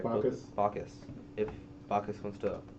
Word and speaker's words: Bacchus: I'm I gonna like ask this Bocus demigod.